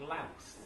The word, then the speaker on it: Louth: What did Betjeman love about Louth? Mouth. Rhymes with mouth.